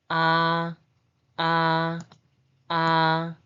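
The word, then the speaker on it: ㅏ: The pronunciation is ah, ah, ah, ah, ah, ah.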